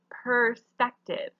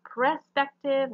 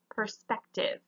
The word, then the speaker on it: perspective: you are saying them this first one is perspective not prospective not prospective perspective perspective so the e is before the r